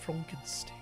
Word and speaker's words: Frankenstein: It's pronounced frunkenstein.